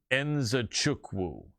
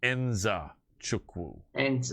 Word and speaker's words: Nzechukwu: and I remember him telling me how to pronounce his last name. Kennedy Nzechukwu. And that is how you pronounce his name. Nzechukwu.